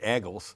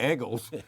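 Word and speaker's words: Eagles: in Philadelphia, they pronounce it Eggles. Yeah. If you're ever there, they call them the Eggles. Right?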